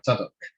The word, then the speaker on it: Tzadok: That's where it's pronounced. It's Rav Tzadok.